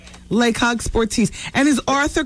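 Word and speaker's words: Le Coq Sportif: The correct pronunciation is Lecoq Sportif. Lecoq Sportif.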